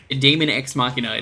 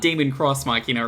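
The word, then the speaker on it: Deus ex machina: like a flow chart damon ex machina it's not damon cross machina or damon machina you should unplug fighting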